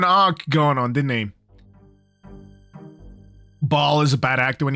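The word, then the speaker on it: Baal: He's Ball. Oh, Ball's pretty good. Ball. You gotta say it like that as well. You gotta say Ball.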